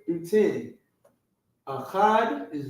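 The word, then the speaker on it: אחד: Instead of the word 1, all right, instead of the word 1, it would be achad.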